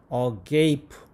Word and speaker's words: agape: 내가 뭐라고 발음했어요? agape.